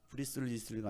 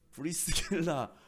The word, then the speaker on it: 브리스길라: 브리스리스가 아니고 누구예요? 발음이 막 세요. 영화 배우 브리스길라 아굴라가 바울과 고린도에서 동행을 합니다.